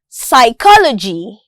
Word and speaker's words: psychology: the silent letter P the letter P is silent in the word psychology some pneumonia and so